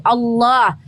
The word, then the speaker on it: Allah: Yang ada adalah pronunciation-nya itu transliterasi dari kata huruf alif lam lam ha dalam bahasa Arab itu Allah. Pronunciation-nya harus sama.